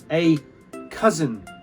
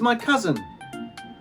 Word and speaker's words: cousin: So the temptation is to pronounce it cousin, but it's cousin. So it's almost like the I doesn't exist. The S and the N hit each other very quickly.